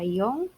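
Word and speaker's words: 四: Terus kemudian angka 1 itu ichi, kemudian 2 ni ya, 3 sang ya, 4 bisa dibaca yong, bisa dibaca shi ya, tapi lebih banyak dibaca yong ya.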